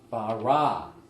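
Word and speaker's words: בָּרָא: 우리가 많이 발음을 해봤지만은 우리가 다시 한번 하나하나를 발음을 해보겠습니다. 제일 먼저 태초에 베레시트, 그 다음에 창조하시니라 바라, 그 다음에 하나님이 엘로힘, 이건 번역이 안 돼 있죠.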